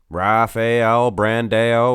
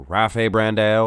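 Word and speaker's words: Rafael Brandão: Rafael Brandao or Rafe Brandao. I've heard several different versions of how to pronounce his name. There's Americanized versions and Brazilian versions, whatever. Rafa Brandao is also a popular alternative.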